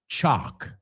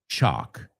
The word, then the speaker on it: chalk: And chalk rhymes with block.